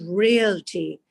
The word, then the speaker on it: realty: I said, "Real estate is pronounced as realty and not reality."